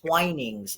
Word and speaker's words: Twinings: I think they call it Twinings is the way to Yeah. pronounce it. Look, right, Twinings.